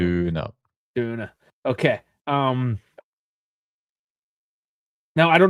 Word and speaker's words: Döner: You're saying it the German way. Döner.